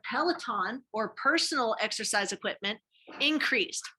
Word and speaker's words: Peloton: We talked about Zoom, we talked about Chromebooks, we talked about Pellington. Is that how you say it? Pellington? Yeah, okay, Peloton.